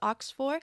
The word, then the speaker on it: OX4: we're checking out a song called Ox 4 pronounced Ox for I've been told by the patreon member who